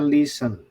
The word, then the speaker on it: listen: dua ada listen bukan bacanya bukan listen ya ingat ya bacanya listen jadi t nya mati jadi listen cuma Ris